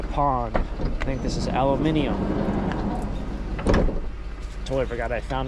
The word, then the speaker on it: aluminium: Yeah, I think in the UK they pronounce it as aluminium. One of those words that spelled the same both ways, but we say it differently.